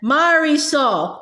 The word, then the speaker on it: Marisol: Mari soul, I repeated, pronouncing each syllable slowly for her.